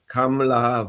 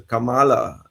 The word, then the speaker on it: Kamala: that he doesn't get the pronunciation of her name wrong because uh Camela versus Camala you know that's a big difference and I wish you